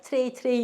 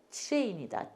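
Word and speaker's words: train: 그래서 트레이 이렇게 하더라고요. 그래서 정통 영어를 배우려면은 미국이나 영국 가서 배워라 발음을 그런 얘기도 있던데 제가 들은 얘기예요. 맞는지 안 맞는지는 모르겠는데 그래서 우리는 트레인이 아니고 트레인이다.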